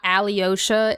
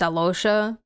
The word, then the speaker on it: Alosha: Well, I said that I saw a video that said it's not Alyosha, it's Alosha.